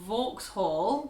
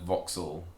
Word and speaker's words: Vauxhall: The next one is VAUXHALL, which sometimes people call VAUXHALL. Yeah. Or VAUXHALL. Yeah, it's just a mispronunciation of the A and the U vowel, but also pronouncing hall as you would if it was on its own in a word, hall. But it's not, it's kind of VAUXHALL. VAUXHALL. Yeah, just rolls straight over.